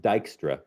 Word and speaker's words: Dijkstra: to be scanned yeah v-i-j-k-s-t-r-a so that that's pronounced dykstra um and this is an algorithm for finding